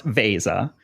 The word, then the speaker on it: Veza: and I'm sure you get conf use a Visa a lot people saying it so let's get the word out there right it's pronounced Vasa for those people who are not familiar with